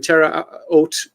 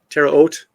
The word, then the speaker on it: Terre Haute: The program included a command center at Deseret Test Center in Utah, a production facility in Terre Haute. How do you pronounce that? Terre Haute?